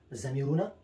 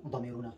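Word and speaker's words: ضمیرونه: كما لقد قدمنا، كما قلنا قبل في سلسلة الدروس الضمائر، ونحن نقول في البشتو أيضا زميرنا، لا نقول ضميرنا، زميرنا، اللفظ الضاد هكذا ننطق، وأيضا نقول له في البشتو الأصلية نمزري.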